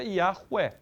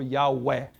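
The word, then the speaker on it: Yahweh: linguísticos e parará parará Chega-se a um consenso que a pronúncia mais provável para isso aqui seja Yahué ou Yahué OK yahué Yahué Só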